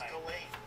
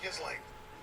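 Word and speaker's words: Ghislaine: I thought it was Gain. I thought it might be Gain. It's Gizlane. Do you know Galain? It's Gizlane.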